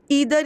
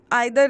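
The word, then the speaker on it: either: फिर अगला देखते हैं हम ईदर या नीदर, आइदर नाइदर, दोनों प्रोनाउंसिएशन करेक्ट है, एक ब्रिटिश इंग्लिश है एक अमेरिकन इंग्लिश है, ठीक है।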